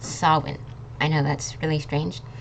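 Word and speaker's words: Samhain: it it's actually pronounced sawin I know that's really strange like sawin we don't pronounce this m and we don't this pronounce this H instead we have like this W sound in the middle so it's Sinn okay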